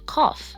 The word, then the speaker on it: cough: Rough, tough, and cough. In these words, the g h sounds like an f sound.